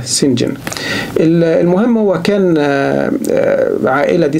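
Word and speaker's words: St John: جون يعني القديس جون انما بيتنطق سنجن سنجن لان بشوف في ناس بتكتبها سنجون القديس يون انما هو لا هو بيتنطق سنجن انما هي طبعا بتتكتب كده استي يعني سينت جون يعني القديس جون انما لما تقروا الروايه اقروها بالنطق ده سنجن المهم هو كان عائله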